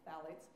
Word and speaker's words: phthalates: masking fragrances in it phthalates that word is pronounced ballots are one of the